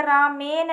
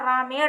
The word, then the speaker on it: रामेण: जैसे रामेन नहीं होगा, ना होकर रामेण होगा।